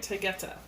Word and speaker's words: Taygeta: Let's see how to pronounce that name. Oh, yep, I was doing it right. Taygeta.